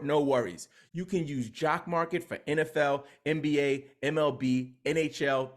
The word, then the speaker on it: JOCKMKT: Jock Market, that's spelled JOCKMKT, offers live daily markets